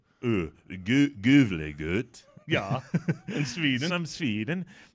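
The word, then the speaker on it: Gävle: Oh, that's pronounced Gavle goat.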